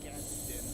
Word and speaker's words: Gadsden: But I'll sometimes say Gadsden, sometimes I'll say Gadsden, but I know it's Gadsden flag. You can admonish me in advance. It's a tough one for me. Otherwise pronounced America.